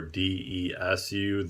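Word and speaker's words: です: So like desu is actually just des, and masu is just mas.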